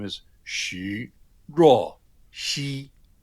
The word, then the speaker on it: Jo: In Mandarin, his name is Xu Ruo, Xi. So the J-O is actually pronounced Ruo in Mandarin, which is a little odd that they spelled it J-O, but that's what it is.